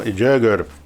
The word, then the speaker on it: Jaeger: Y el libro, el autor se llama, repito, Jäger. Se pronuncia así, pero se escribe Jaeger.